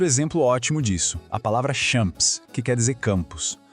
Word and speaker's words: champs: Já o P e o S no final, eles estão ali de enfeite, a gente não fala. E o an é outro som nasal, igual em Provence. Então, a pronúncia é champ.